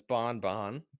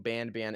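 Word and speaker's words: Banban: ban ban is that I think the official pronunciation is Bon Bon but in the game itself they switch between saying ban ban and Bonbon canonically they switch between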